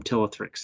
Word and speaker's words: Ptilothrix: Ptilothrix. So yeah, there's a silent P on the front, just to trip us up.